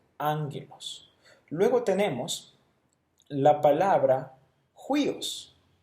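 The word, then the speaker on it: ἄγγελος: Entonces, la pronunciación es equivalente al H muda en español. Simplemente no la pronunciamos, pero la tenemos que escribir. Entonces decimos ángelos.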